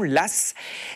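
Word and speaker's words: Law: à un Banquier Lass alors ça s'écrit l a mais on le on le dit bien de cette façon Lass et c'est en fait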